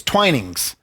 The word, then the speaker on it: Twinings: ever is what it's and it's not Twining that's why I had to get the pronunciation it's twinings it's a uh the